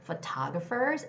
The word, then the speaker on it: photographer: And the word photographer, oh, it has the same second syllable stress, is the people who take pictures, right?